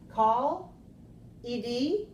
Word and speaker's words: called: your friend yes then call Ed which do we have is it or called all right so we have call called because the sound O is a voice sound it's a voice sound